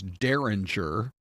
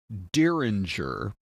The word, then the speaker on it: Dieringer: At first, we thought his name was Dieringer, kind of an Old West name, right? But he pronounces it Dieringer.